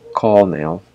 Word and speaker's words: Colonel: context of this phrase chess pieces X Colonel call Nail so when we pronounce the word call call on Colonel we